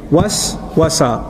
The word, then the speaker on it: waswasa: Waswasa, waswasa, was. You see the two syllables together?